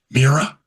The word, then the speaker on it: Mirai: fuel cell that Toyota already puts in its Mirai, is how you pronounce that car.